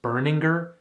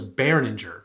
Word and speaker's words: Berninger: also did you know his last name is pronounced burninger i i for this whole time i thought it was bareninger my god i am i am so embarrassed